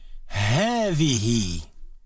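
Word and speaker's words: هذه: feminine word for this is in Arabic is heavy again it sounds as if there is a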